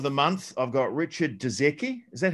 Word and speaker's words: Dudzecki: I've got Richard Dudzecki. Is that how you say it? Dudzecki?